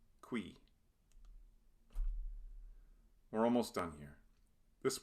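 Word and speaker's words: cui: Qui. It's a single syllable. UI is yet another diphthong, and it sounds like the English word we. Qui.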